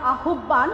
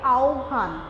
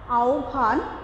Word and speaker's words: আহ্বান: গত ক্লাসে আমি তোমাদের যে গদ্যটা পড়িয়েছিলাম, অর্থাৎ গদ্যাংশ থেকে তোমাদের সিলেবাসের অন্তর্গত আহ্বান, তোমরা উচ্চারণ করো আহ্বান, কিন্তু এটা হবে আহ্বান, আহ্বান।